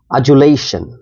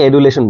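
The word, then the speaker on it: adulation: মাথায় রাখবেন and last word today episode is আজুলেশন আজুলেশন এটার উচ্চারণটা খুব ইম্পরটেন্ট আপনি ডিটাকে জয় এর মত উচ্চারণ করতে হবে এই জায়গায় দেখুন ব্র্যাকেটে লেখা আছে অনেকে এডুলেশন বলে noun it means wild or excessive ডমাইরেশন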